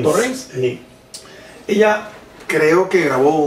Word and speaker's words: Torrens: Bueno, que yo recuerde, Elsa Torrens, o Torrens, no sé cómo se pronuncia. Sí, así se dice, Torrens. Torrens.